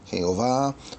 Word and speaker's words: Jehová: Bueno, a veces algunos pronuncian Jehová, otros Yahwé. Yahwe, ya hay varias maneras que pronuncian, pero está hablando de tetragrametan, que es el cuatro letras del nombre santo de Dios.